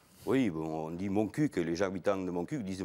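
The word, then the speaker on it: Montcuq: cul est-ce que vous vous battez pour qu'on prononce bien le cul de mon CUC oui bon on dit moncuc les habitants de monc disent moncuc oui et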